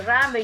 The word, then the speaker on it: Rambert: Rambert, así se pronuncia, Richard.